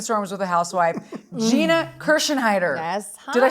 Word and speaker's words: Kirschenheiter: still weathering the storms with a housewife Gina kersen heider yes hi did I say it right you